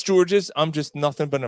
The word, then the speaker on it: Georges: If it's George's, I'm just nothing but an American. Oh my God. I'm just a pubic hair wig. Yeah, but it's George Niang though. The S is silent.